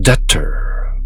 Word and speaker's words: debtor: 이때 B는 발음하지 않죠. Debt. I am a debtor.